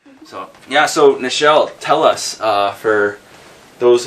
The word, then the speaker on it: Nichelle: nancy a lot of people always call me michelle but it's nichelle and spelt without a piece so right away it's just